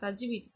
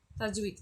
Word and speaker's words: தஜ்வீத்: Okay, இப்போ பாருங்கள், குன்னா என்பது தஜ்வீத், சரிங்களா? தாஜ்வீத்துன்னு இருக்குது, சாரி, தஜ்வீத், சரிங்களா? தாஜ்வீத் இல்லை, தஜ்வீத் என்ன அப்படின்னா விதிகளில் ஒரு முக்கிய அம்சமாகும்.